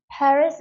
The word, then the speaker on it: Paris: 저거 파리라고 읽어야 되나 근데 여러분 파리라고 읽는 거는 사실은 불어에 가깝게 읽는 거고요 영어식으로 읽으려면 스라고 해가 되는 거예요 par 전부 다 사운드가 나는 거죠 사운드가 나는 거 자